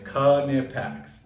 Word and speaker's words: Knipex: The phonetical pronunciation. Mhm. It's Knipex.